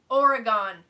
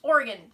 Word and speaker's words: Oregon: And then, I haven't heard it for a while, but still some people call it Oregon. It doesn't rhyme with Pentagon. It doesn't rhyme with anything. It's Oregon. So, yeah, Oregon and the Willamette Valley.